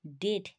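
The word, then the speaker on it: debt: ও এম বি ডম ডি ও এম বি ডেট ডেট ডি ই বি টি আমরা ডেট বলবো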